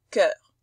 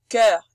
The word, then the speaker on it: cœur: Voilà notre O E bouclé U qui se prononce E. On dit pas œuf, on dit pas sœur, on dit pas cœur, on dit cœur, sœur, œuf. C'est un E ouvert.